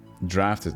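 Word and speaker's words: draught: children is of the orbus as it is drafted no no no but there's an actual word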